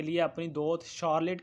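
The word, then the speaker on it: Charlotte: दूसरी तरफ doctor Stanhope की बड़ी और समझदार बेटी, जिसका मैं पहले चार्लोटे जिसको कहा है, इसकी सही जो प्रोनाउंसिएशन है वो शार्लेट है, तो इसके लिए सॉरी,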